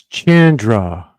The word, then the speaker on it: Chandra: You'll never say her name right. Just like we. It's Chandra.